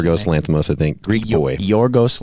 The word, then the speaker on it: Yorgos Lanthimos: Is that how you correctly pronounce it? Yorgos Lanthimos, I think.